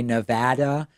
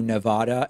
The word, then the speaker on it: Nevada: I made an effort to say Nevada and Hawaii as opposed to Nevada and Hawaii and that's